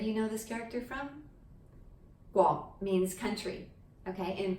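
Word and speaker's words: 國: Guo means country, okay, and properly pronounced as the Guo with the GW kind of sound, Guo, Guo. But in the lazy pronunciation, I'm not calling you lazy if you do this, it's what everybody does, is just Go, right?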